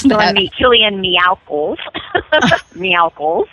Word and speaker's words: Meowkles: Meowkles instead of Michaels, yes.